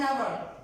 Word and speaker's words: hour: So at the beginning of any word, if H and O comes together, H is silent. Then we will use articles also with exchange because the sound comes as a vowel. So what we will use always an honor, an hour, honest, an honest person.